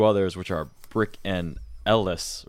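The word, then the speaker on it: El-Les: which are brick and Ellis right yeah it's pronounced like just the letters LS yeah but it's not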